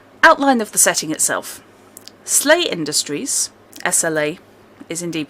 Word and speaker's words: SLA: of the setting outline of the setting itself slay industries SLA is indeed pronounced Lee is a company a huge corporate